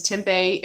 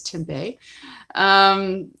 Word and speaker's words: Tempe: same town which is Tempe Arizona which is usually mispronounces Tempe and I just refused to say that it's to Bay and after Vegas I